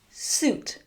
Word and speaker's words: suit: Suit.